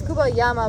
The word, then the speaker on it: Cuba Llama: companies like Cuba Llama, or it's Cuba Llama, but it's spelled like it was spelled llama, 2 L's.